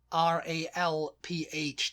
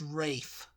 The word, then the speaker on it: Ralph: It's kind of like people who want R-A-L-P-H to be pronounced Rafe. There's a few people. It's not just Rafe Fiennes who likes that. Yeah. But everybody else it's not Rafe.